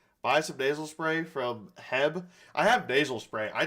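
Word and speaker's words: H-E-B: The way you pronounced Heb was funny. Is it like Hebe? I'm from the middle of America in Missouri, so Midwest. That's what they call it. Modoc. I'm just gonna venom Modoc because why not? From Houston, Texas, it's pronounced Heb.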